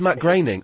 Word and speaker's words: Matt Groening: It's not Groening, it's Groening. Even though there's no A in it.